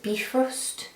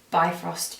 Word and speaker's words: Bifrost: think they pronounce it B first is the correct pronunciation but I call it by frost because B first makes